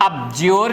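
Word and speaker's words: abjure: अब देखो बच्चा, कभी भी ध्यान रखना है, डी के बाद में जेड आता है, डी साइलेंट कर देते हैं, जैसे एडजस्ट नहीं बोलते, एडजस्ट बोलते हैं, एडजेक्टिव नहीं बोलते, एडजेक्टिव बोलते हैं, इसी तरह इसको बोलतेंगे अज्योर, इसको बोलेंगे अब्ज्योर, डी साइलेंट हुआ, ठीक है।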